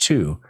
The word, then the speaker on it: Thy: area is called two it's spelled thy but pronounced two the natives here uh